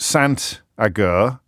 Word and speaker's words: Sant Agur: It is actually pronounced Sant Agur. The T is pronounced because it's followed by a vowel.